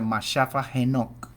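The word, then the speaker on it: መጽሐፈ ሄኖክ: El también conocido como primero de Enoc, uno Enoc en Giz, se pronuncia Mashafa Enoc, en Giz, el idioma etíope, es un texto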